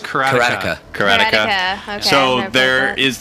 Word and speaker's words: Karateka: Karateka, but it's not Karateka. Pronounced that. It's pronounced Karateka.